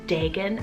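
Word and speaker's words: Dagan: list here i have the name dagon spelled d-a-g-a-n now i've actually heard this name pronounced as degen as well so depending on where you live it could be pronounced differently it means corn or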